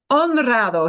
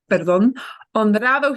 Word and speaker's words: honrado: Here's one of our words with an H that we don't pronounce. So the hard thing for us as English speakers is to remember that H's go silent all the time unless they're a CH combination.